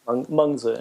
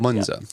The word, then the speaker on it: Mengzi: Is that how you pronounce it? Mencius, yeah. Mencius. Mengzi in Chinese. Mengzi.